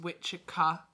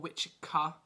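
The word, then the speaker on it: wicce: it's a masculine or w-i-c-c-e which is feminine pronounced witchika or wichika so and it's respectively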